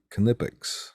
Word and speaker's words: Knipex: The ones that I have, there are Knipex. You actually pronounce the K.